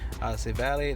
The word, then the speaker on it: Civale: You can also look at Aaron Civale, that's how you pronounce it, going against the Mets.